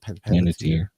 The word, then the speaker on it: Panettiere: Panettiere.